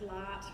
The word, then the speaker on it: Lart: And she's known as Lart, which rhymes with tart and other things.